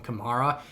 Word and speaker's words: Kamara: listened to an interview they asked him they said you pronounce your name kamara or camara and he said his mom pronounces it alvin kamara and he pronounces it himself camaro and he said he doesn't really care how you say it just however it rolls off your tongue so i say it both ways another random side note